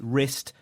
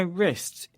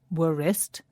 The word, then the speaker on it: wrist: We spell this word wrist W-R-I-S-T. But when we say it, we don't pronounce the first letter W, W.